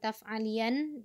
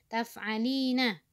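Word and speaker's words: تفعلين: nyata file menjadi taf'alina ini salah nih bukan Taft alien tetapi taf'alina the text nyata Valiant ya tapi dia sebenarnya adalah bacanya taf'alina bertita di depannya Ina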